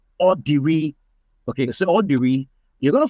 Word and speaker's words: Odiri: So the correct pronunciation is Odiri. Wow. Oh my. That's the correct pronunciation. The V is silent. Yes. And the main name, the Odiri name, it goes up and then dives down.